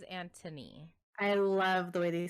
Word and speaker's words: Anthony: I think it's Anthony with an H, but they pronounce it as Antony.